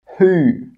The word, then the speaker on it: who: Who, whole, answer, sword, to. In all of these words, we're not pronouncing the W, it's silent.